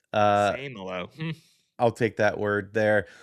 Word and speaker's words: Seumalo: I'm told it's Seumalo, by the way. Same hello.